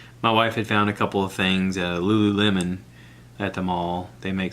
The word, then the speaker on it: Lululemon: outfits from Lululemon lose I guess I'm pronouncing it right the way it was written I was like lemon loo loo loo loo but I've heard people say it on like television shows and stuff and they all pronounce it Lululemon so like I said